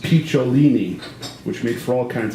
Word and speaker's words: Picciolini: Jimmy Mayfair anything but the impossible to say Christian picciolini pronounced piccolini which makes for all